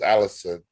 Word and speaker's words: Alisson: It's English, so it's Allison. I just like it had two S's, so I don't know why I wanted to go French with it, but it is what it is.